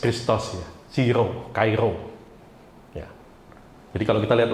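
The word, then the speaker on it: Chi-Rho: Tapi ternyata setelah kemarin saya selidiki, ternyata ini berbicara tentang lambang Kairo, ya. Jadi bacanya dari X dulu nih, Kai dan Ro.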